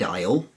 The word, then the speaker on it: aisle: go to the bread aisle in the local supermarket the A's in bread B are EAD and aisle a is L e contribute nothing phonetically or in phonetically all